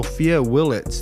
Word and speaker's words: Sophia Willets: everybody so on today's show we have so sopia Willet did I pronounce that right yes so Sophia you're a